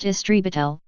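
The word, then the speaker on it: истребитель: Exceptions include Russian, where a fighter is an, pronounced istribitel, meaning exterminator, and Hebrew, where it is matos krav, literally battle plane.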